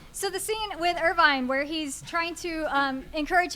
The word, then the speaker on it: Irvine: Canonically, here at MAGWest, it's Irvine. We're establishing that now. Irvine, all right. So the scene with Irvine where he's trying to